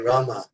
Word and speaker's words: Rama: Prabhupada said you should chant Hare Rama, pronounce the entire name.